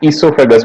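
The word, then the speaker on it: oesophagus: The main organs of the digestive system are mouth, ईसोफेगस, spelling है इसकी ओइसोफेगस लेकिन ईसोफेगस बोलते हैं इसे, ठीक है।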